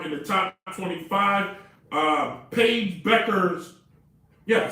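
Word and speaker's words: Paige Bueckers: all right now in the top 25 uh paige becker's yeah i said it right i set up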